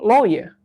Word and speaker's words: lawyer: So it's only lawyer. The Lawyer. R is not heard. It's not heardable.